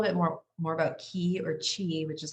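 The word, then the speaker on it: qi: The word, and I'll talk a little bit more about ki or chi, which is how it's pronounced in Chinese medicine, is it's energy, but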